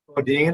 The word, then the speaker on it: Bodine: Bodine, unless you're in the South or some other areas, then they pronounce it Bodine. So either way is fine.